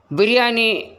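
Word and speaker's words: biryani: கேட்டுள்ளேன் பசி ருசி அறியாது பிரியாணி அப்படி அல்ல பிரியாணி சரியான உச்சரிப்பு பேரே ஏ அலிஃப் நூனே உருதுவில் பிரியாணி ஆங்கிலத்தில் பிஐ ஆர் ஒய் ஏன் ஐ பிஐ ஆர் ஒய் டபுள் ஏன் பிரியாணி செய்யும்போது வரும் ருசியான வாசனையால்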